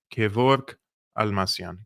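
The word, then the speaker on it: Kevork Almassian: he or she wants to know how to pronounce my name my name is Kor almasian Kor is the Greek name of George if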